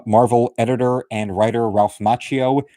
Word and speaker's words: Macchio: We also have a foreword from longtime Marvel editor and writer Ralph Macchio, no relation to the Karate Kid. That's why ever since the 80s, he's been pronouncing his last name Macchio.